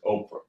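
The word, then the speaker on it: Ophrah: Not Winfrey, Oprah. I don't know how you spell it.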